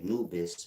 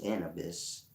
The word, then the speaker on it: Anubis: against the Feather by by Anubis but it's pronounced in Abyss because he's the god over the abyss he's weighing the heart